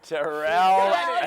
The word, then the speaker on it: Terrel: Yeah, and it rhymes with Terrel.